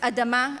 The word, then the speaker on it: adam: In Hebrew, my mother tone, the words ground, human, and blood are pronounced as adama, Adam, and dam.